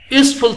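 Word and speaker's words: useful: এফ নম্বরে dash ইউজফুল thing, ইউজফুল, দেখুন ইউজ your মতো উচ্চারিত হয়েছে, যেমন ইউনিভার্সিটি ইউর মতো,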